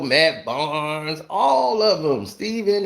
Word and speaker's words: Stephen: My name is Stephen because that is how it is spelt. It is a P in there, a PH. So it is Stephen, not Stephen. Stephen has a V in it.